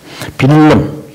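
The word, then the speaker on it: Willem: 빌름 더 오란여 이라는데 이 빌름이 이제 더치 말이니까 빌름이지 독일 말로도 해도 빌름인데 영어로 말하면 윌리엄.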